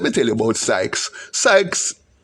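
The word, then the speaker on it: psyches: Sykes is pronounced P-S-Y-C-H-E-S. We say Sykes.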